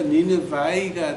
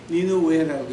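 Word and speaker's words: Nineveh: 그래서 이제 그걸 뭐 킹 제임스로 번역을 하면서 그 독일 이름을 갖다가 영어로 받음하니까 니느바이가 되는데 이게 니느바이가 아니라 니누웨라고 해 히브리 말로 말하게 되고 그러니까 뭐 니누웨라고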